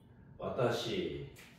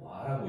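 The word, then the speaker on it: は: 조사로 쓰일 때는 와로 발음을 해줘요. 와. 그래서 와타시 와 이렇게 이제 하셔야 돼요. 와타시 하 이렇게 하면 안 돼요.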